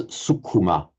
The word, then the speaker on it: sukhuma: So here we have an u, a long vowel, and a heavy syllable, sukshma. In Pali, it's divided into 3 short syllables. So metrically, they are the same length.